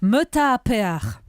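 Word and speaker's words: myötähäpeä: C'est censé se prononcer Meta Pear. Je l'ai très mal prononcé, je suis sûre.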